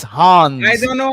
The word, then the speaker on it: Hans: These are some of the favorites, and He's talking about Hans, not Hans. Hans. I don't know how to pronounce. Now, usually correct me, but it's Hans.